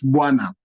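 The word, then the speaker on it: bwana: As you pronounce it properly, it's buana.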